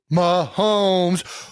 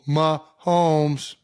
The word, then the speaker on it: Mahomes: Who Mahomes. It's 2 syllables. Starts with an M.